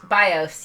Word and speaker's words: BIOS: BIOS, yes. Okay. In case, if you're new to this stream, I'm pretty aces at mispronouncing things.